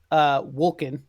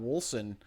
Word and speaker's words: Wolcen: Wolcen. Oh, it's a hard C. I think it's a hard C. I'm not positive actually.